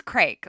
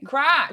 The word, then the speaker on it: craic: No, there's also like, okay, so can you explain like what is crake? Like, what does it actually mean? Crack. Crack. Oh, oh man. Yeah, no. So crack is spelled CRAIC.